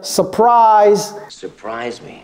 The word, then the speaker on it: surprise: se prononce différemment et n'oubliez pas ce r ici les gens ont tendance à oublier ce r non c'est important mais ça ne se prononce pas donc en anglais on va dire surprise ou surprise surprise on dit pas surprise ok surprise par exemple